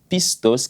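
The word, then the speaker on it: πιστός: le mot fidèles ici c'est un mot grec que l'on prononce piste hausse qui veut simplement dire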